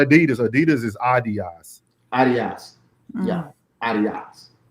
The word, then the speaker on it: Adidas: Adidas is not Adidas. Adidas is Adidas. Adidas. Yeah, Adidas. We pronounce all these shoes incorrectly in America.